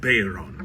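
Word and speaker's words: bodhrán: This right here is what's known as a Bayron. It's not spelled that way. It's actually spelled more like B-O-D-H-R-A-N, but pronounced Bayron.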